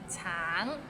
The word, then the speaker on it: 橙: 橙 it means orange, but some people might find it difficult because the end has a little ng, so it's a bit of nasal sound.